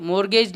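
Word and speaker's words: mortgage: loan क्या है तो यहां पर देखो टी साइलेंट है तो ये मॉर्गेज लोन प्रोनाउंस होगा और यहां पर यह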